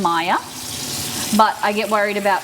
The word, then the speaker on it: Maya: really like the name Maya but I get worried about people being able to pronounce it because m a y a people would say mayor you know what I